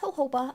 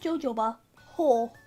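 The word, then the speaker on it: jojoba: They put in the documentation that is pronounced Hoba. I always called it Jojo Ho.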